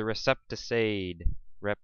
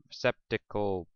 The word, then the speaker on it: receptacle: So this part is the receptacide. Receptacle. That's a mispronunciation. It's receptacle.